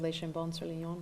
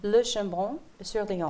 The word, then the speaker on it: Le Chambon-sur-Lignon: For me, just the village of Les Chambons-sur-Lignon, is that how you pronounce it? I'm sorry? Les Chambons-sur-Lignon. Le Chambon-sur-Lignon. There we go. Like That's this. I'm like a Virginia Hall. Les Le Chambons-sur-Lignon. Chambon. Lignon, yeah.